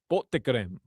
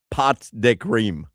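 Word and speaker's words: pots de crème: Pots de creme. Here's how you do pronounce pots de creme. Pot de creme.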